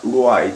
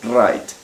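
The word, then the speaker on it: write: wright ojo con este este no se pronuncia white sino right como si la doble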